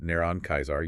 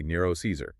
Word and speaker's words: Nero Caesar: If you are a Latin Christian, you don't pronounce it neron Kaisar. You say Nero Caesar.